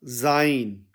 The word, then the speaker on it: sein: तो यह बन जाएगा जाइन जाइन और जाइन के स्पेलिंग अंग्रेजी में होंगे एस ई आई एन जाइन जबक जर्मन में इसके स्पेलिंग बनेंगे एस ए ई एन जाइन यानी उस लड़के का जब